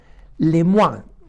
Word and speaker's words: Lemoine: autor Aunque es norteamericano tiene un nombre francés se llama Philip lemuán no y se escribe Philip con pH y L y p philippe y su apellido se escribe lemoine no O sea que